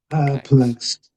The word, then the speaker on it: perplexed: Perplexed. Perlex. Yeah. Okay. Perplexed. So those two syllables. Perplexed. So I think both P's are fairly strong. I would say perplexed.